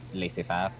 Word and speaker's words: laissez-faire: My history teacher calls it laissez-faire. I could be wrong. Y'all don't like the French, so how y'all gonna pronounce words?